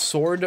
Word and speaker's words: sword: son says I pronounce sword wrong so why is the s w there if you don't if you don't pronounce it how do you say sword wrong you say sword right sword sword sword sword